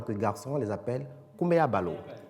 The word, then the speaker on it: Kumeabalo: Les natifs de vendredi, en tant que garçons, on les appelle Kumeabalo. Kumeabalo. Alors, Kumeabalo s'écrit comment?